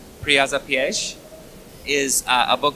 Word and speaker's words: piège: My next book, after I say it correctly, Piège, is a book called Close to Home.